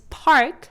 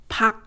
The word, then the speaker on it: 박: She's also a very well-known Korean actress and her name is read, 박 is often romanized as "Park" but the correct way to read it is Bak.